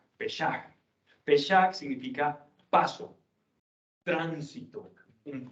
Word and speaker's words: Pesach: Escribe Peshuak y se pronuncia Pesach, Pesach.